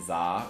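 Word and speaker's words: Z-A: And I know there's a couple people in here who are learning about Pokemon Legend Zaha, which is the official pronunciation for the first time.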